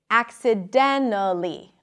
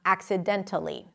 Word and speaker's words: accidentally: Now, when the T appears after an N in unstressed positions, you can often drop it, like in the word internet or wanted. So here as well, some people might say accidentally and not accidentally. You can do both, whatever is easier for you.